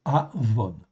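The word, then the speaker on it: עוון: Ok, ça se prononce Avon.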